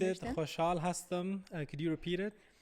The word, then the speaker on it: خوشحال: The kha is not in English, so it's always tricky.